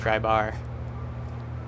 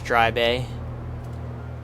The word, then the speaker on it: Dry Bay: the east facing runway try bay not dry bar we're pronouncing it wrong but it's going to be right off our left here is dry bay look it's even got